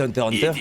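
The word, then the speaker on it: Hunter × Hunter: Laguna effectivement tu dis Hunter Hunter ou Hunter X Hunter c'est Hunter Hunter. Ouais, parce qu'en fait le X se prononce pas mais moi au début je le disais, on faisait trop.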